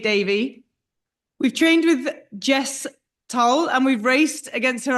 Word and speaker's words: Towl: about your surname because everyone says Jess Towl. No, Jess Towl. Yeah. And your Jess Towl rhymes with bowl, which is what we worked out in Istanbul.